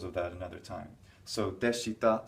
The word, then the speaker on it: でした: So deshita. We have in Romaji we write an I. We write this I here, but we don't really pronounce it.